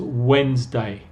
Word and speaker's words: Wednesday: Fija que aquí la pronunciación es completamente diferente, es Wednesday, Wednesday. El D aquí está, no se pronuncia eso.